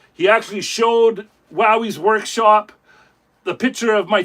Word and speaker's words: Wowee: can spell it properly because Jordi says it kind of differently. He says, "Wowy."